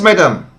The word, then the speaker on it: Madame: lot of people Everyone local people say Madame and this big uh the the pronunciation is changed vared uh in Africa compared to other places so it doesn't matter as long as all of these the local people agree it's okay uh so Madame